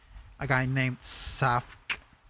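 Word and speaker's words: Savk: is by a guy name a guy named saf it's spelled s a v k and he makes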